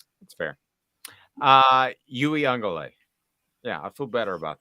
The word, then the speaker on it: Uiagalelei: Daniel says it's Uiagalelei. Uiagalelei. Actually, I think he's right. Is that better? Uiagalelei? Pretty sure that's how it's pronounced. Yeah, Uiagalelei.